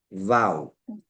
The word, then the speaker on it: vau: Como vela viodental. V de vaca. A u vau o o un v, como dicen otros.